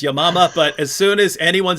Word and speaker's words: Yamama: And writing on this, which Hatun just mentioned, the Battle of, I say Yamama, that she pronounced it correctly, which is Yamama, but as soon as